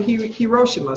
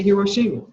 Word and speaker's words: Hiroshima: You know, some people pronounce it Hiroshima. Some people say Hiroshima.